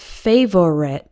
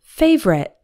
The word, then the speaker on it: favorite: we don't pronounce it favorite with three syllables instead we say it more like favorite with two syllables the O syllable disappears in today's lesson you're